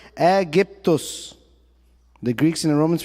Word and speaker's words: Aegyptos: The Greeks, then the Romans after them, pronounced it Aegyptos.